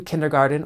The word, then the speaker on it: kindergarten: a kindergartener notice that the T in kindergarten is pronounced with a D sound kindergarten so it sounds like Garden but is not spelled the same that's because this word comes straight from German Most states in the